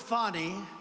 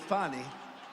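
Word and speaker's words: Fani: legit they're Biden counts he worked with fonnie even though it's spelled Fanny f a n i funny how about that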